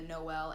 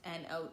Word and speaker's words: Noelle: to be creative, because it's not spelled the same way as like the Noel. It's not Noel, it's Noelle.